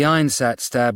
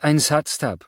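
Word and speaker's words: Einsatzstab: while working for the Einat Stab Rice Lighter Rosenberg." You pronounced Ansatstep wrong. Margaret Lee corrected. It has more, how you say, emphasis on the second syllable.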